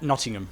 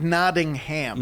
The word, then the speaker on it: Nottingham: say it properly not nottingham so it's not nodding ham no okay do you